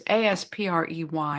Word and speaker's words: Asprey: No, I think it's it's Aspy. I think he pronounces it Asprey.